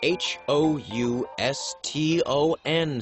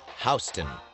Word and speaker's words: Houston: the block like 50th between 5th and madison h o u s t o n street is pronounced houston not houston step eight wear a lot of